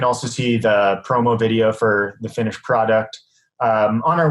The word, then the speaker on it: Forte: like that yeah so name of the company is fort shelter it's spelled forte that's my last name and uh we have